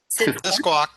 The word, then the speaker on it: Sisquoc: Is that how you say it? Sisquoc? Sisquoc, yeah.